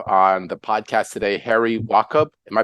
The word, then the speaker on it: Wachob: Really grateful and excited to have on the podcast today Harry Wachob. Am I pronouncing that correctly?